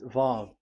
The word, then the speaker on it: Vav: So it's V as in Vogue. So it's really V. How to read Vogue? So the word, the shape Vav is really pronounced V, like Vogue. That is it, pronunciation. So here in this side, it's pronunciation. This is pronunciation. So according to the old Hebrew word today, those who, the owner of the word, I mean, so it's a V. So don't change it into W, and you will say